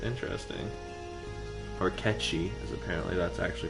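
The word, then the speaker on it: Cait Sith: Noxious Kate Sith, interesting. Or Ketchi, as apparently that's actually pronounced.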